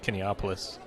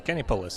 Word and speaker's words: Kinepolis: Once again, huge abundance of people outside at Kinepolis. Or Kinepolis. Apparently I've been pronouncing the name of this place wrong for like the past 6 years, and I just had no idea about it.